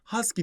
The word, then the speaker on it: Husky: Husky cinsi köpekler çekiyor burada huske yazmışız ama Husky diye okunuyor Bu hki gerçekten böyle